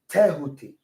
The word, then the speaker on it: Tehuti: is correct, but it's Tehuti.